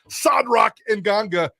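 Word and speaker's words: Sadrack Nganga: sod rock and ganga i appreciate jp for taking me through some pronunciation classes this morning sadrak and ganga one of the bigger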